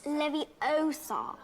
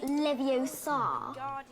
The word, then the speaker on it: Leviosa: you're saying it wrong it's leviosa not levio sarr you oh oh